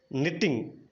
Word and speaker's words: knitting: Okay, so next నిట్టింగ్ KNITTING నిట్టింగ్ అంటే అల్లడం అనమాట.